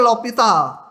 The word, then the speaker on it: L'Hôpital: Bacanya L'Hopital ya. Kalau tulisan namanya ada yang pakai S bahkan. L Hospital gitu ya. Iya, tapi O-nya tuh O yang Jerman itu ada apanya lah di atasnya. Tapi bacanya L'Hôpital. Gitu ya. L-nya nggak dibaca, L'Hôpital.